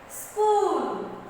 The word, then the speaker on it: school: School. School. School. See, here H. H is not pronounced.